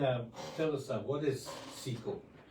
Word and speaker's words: SIKU: So, the word secu actually means uh sea ice in Inuit. And after a couple conversations with you, George, I'm told the pronunciation is similar to uh a CRE word that translate to spit.